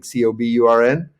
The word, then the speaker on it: Cockburn: with the CK and he started calling himself writing c-o-b-u-r-n yeah I said you